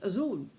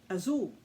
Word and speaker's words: Azul: So they cut it down to azul. Azul. Now, I also come to find out that it's not Spanish necessarily, but rather Portuguese, because blue in Portuguese is spelled the same way. It's Azul, Azul.